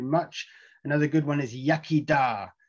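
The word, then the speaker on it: iechyd da: thank you very much another good one is yakida yakida you say when you cheers somebody's drink in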